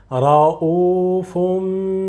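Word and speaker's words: رءوف: But after, you will not pronounce tanween, but you will pronounce meme. Okay? Ra'ufum bil ibad.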